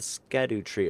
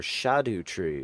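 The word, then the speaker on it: Scadutree: consort of Micha Hune into the scadu tree or shadu tree is what I've heard its proper pronunciation is apparently shadu tree which sounds a lot more like Shadow tree doesn't it son of a bee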